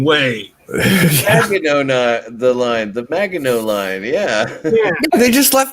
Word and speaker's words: Maginot: Yes, I do know how to pronounce it. Maginot line.